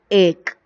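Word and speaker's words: एक: But while you pronounce the word, you should pronounce this word like egg. The last letter should be pronounced like half letter. Ka becomes ik. Okay? A ka ek.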